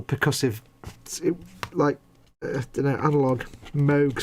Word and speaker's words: Moog: Moog synthesizer. It's not Moog, it's Moog. It's Robert A. Moog. There's another thing we all pronounce wrong.